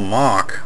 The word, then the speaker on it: Mohc: But what it really is, it's a character in the game called General Mohc, I think is how you pronounce it, M-O-H-C, in a special suit.